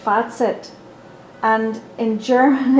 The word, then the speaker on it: Fazit: The word is German, and it's pronounced, and it's one Z, and it's pronounced Fazit.